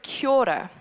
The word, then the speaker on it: kia ora: So the way you say it is this portion is said like key, like lock and key. And the second portion is like the oar on a boat, right, to paddle.